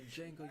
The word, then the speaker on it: Django: The Django, you black bastard. The D is silent.